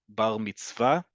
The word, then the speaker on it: bar mitzvah: But in modern Hebrew, the emphasis is always, the default is always on the last syllable. So it's bar mitzvah, bat mitzvah.